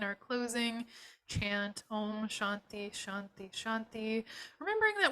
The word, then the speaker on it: Shanti: closing chant Om Shanti Shanti Shanti remembering that when we pronounce Shanti um it's kind of a dental tea or a soft kind of a tea so um just seeing